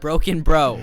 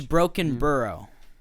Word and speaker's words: Brockenbrough: It's Broken Burrow. I see. I said Broken Bro.